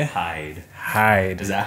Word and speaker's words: Hyde: Hyde.